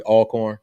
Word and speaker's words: Alcorn: to alcorn state universe did i say it the right way all corn i wanted to make sure i said it right because you know people say alcorn yeah so um but